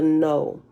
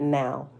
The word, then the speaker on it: know: It's spelled no, K-N-O-W, but it threw me off because I thought the K might have been, the K is silent and no, but the capital N threw me off, right? Which made me ignore the K and just said now, right?